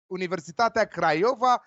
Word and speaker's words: Universitatea Craiova: talked about Cluj Martin Michael will talk about Universitatea Craiova this is how is pronounced so be careful what you're saying they